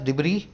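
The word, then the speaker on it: debris: नया word add कर रहे हैं आज, डिबरी। इसको लिखा गया डिबरीस, ये एस इसमें साइलेंट होता है, इसको बोलते हैं डिबरी।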